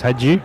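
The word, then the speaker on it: Hajdu: Finds a runner there in the form of the front rower, Haidu. Haidu only 12 metres out from the line. There's Dylan Menzies. We'll get a pronunciation. That's Hadju. Hadju, is it?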